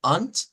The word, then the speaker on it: und: Luego tenemos unt, con un sonido de T al final y no de D, unt, que es para decir I.